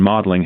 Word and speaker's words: Magdalen: Oliver Stanley's witticism that the party had become all Eton and Magdalen, pronounced Eden and Maudling, had much truth in it.